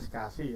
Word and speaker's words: SCSI: perangkat Sedangkan untuk spasi saya itu bacanya spasi ya bukan walaupun tulisannya scsi itu kebanyakan pada ranah teknis itu biasanya menyebutnya dengan istilah spasi small komputer sistem interface